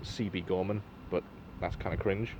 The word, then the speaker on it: Siebe Gorman: Quick note, it's technically pronounced Siebe Gorman, but that's kind of cringe, not gonna lie.